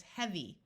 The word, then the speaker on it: heavy: EA most of the time says E, like in clean, but sometimes it has a short E sound, and it does in this word. So this word is heavy.